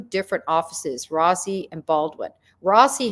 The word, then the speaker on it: Rossi: Rossi had nothing to do with it, or Rosie, I think they pronounce his name more like Rosie.